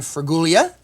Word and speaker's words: Fraguglia: The Executive Director of ACRA, Carolyn Fraguglia.